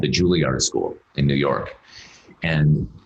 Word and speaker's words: Juilliard: this place called the Juilliard School in New York. And I didn't even know how to pronounce it. I thought it was the Juilliard School. I thought it was French.